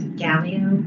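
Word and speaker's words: Gaglio: Can I be um a little fussy and um let you all know that the second G in my last name is silent. So it's Gallio.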